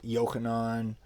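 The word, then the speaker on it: יוחנן: know for instance uh matthew is mati diao you know john is yokanon james is yaakov and you can hear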